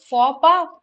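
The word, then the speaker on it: faux pas: is silent and p the x is silent right just like in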